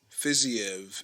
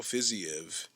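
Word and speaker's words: Fiziev: minute uh raphael fizzy fizzy of fizzyev is what i've heard is is pronounced raphael fizzyev uh he had to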